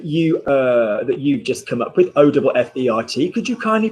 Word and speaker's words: offert: the YouTube that you've just come up with, O-F-F-E-R-T. Could you kindly pronounce that for me, please?